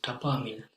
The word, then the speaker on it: tapaaminen: Meeting is tapaaminen. Tapaaminen. Yes, with 2 A's. So now pronouncing 2 P's or 2 A's can be quite crucial.